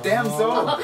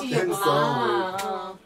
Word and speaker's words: 담솔: 담솔이 이게 소나무 솔자가 아니고 소울. 그래서 명인의 혼을 담았대요. 댐솔. 괜찮네. 댐솔. 아 이렇게 발음해야 되는 거네요. 댐솔.